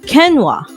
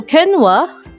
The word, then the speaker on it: quinoa: using the ipa okay we can this is pronounced as quinoa so quinoa it's an annual herb of the goose food